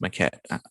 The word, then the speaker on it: Maquette: And I was like, wow, it's pronounced Maquette.